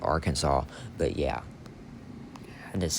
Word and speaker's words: Arkansas: Notre Dame, back on track, demolishes Arkansas. No, I know that's not how you say it. Arkansas.